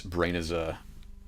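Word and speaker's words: Brenizer: Of course, the other issue with doing this Brainizer technique is that you can't do it with anything moving, right?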